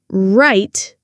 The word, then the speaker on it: right: Light. Tongue touching, right tongue not touching.